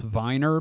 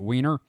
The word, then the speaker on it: Weiner: called it it's pronounced it's supposed to be pronounced Viner because it is founded by a bunch of Germans. So there's this sign that says uh now entering Weiner and everybody calls it Weini.